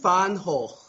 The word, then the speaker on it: van Gogh: And therefore, from what I've learned, and she repeated it me till I was blue in the face, the correct pronunciation is apparently Vincent van Gogh.